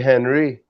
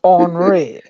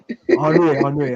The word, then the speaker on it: Henri: Well the H is silent. Ugh. Okay. Everybody used to come to me, Parlez-vous François. But I would have said Henry. It's Henri. Henri.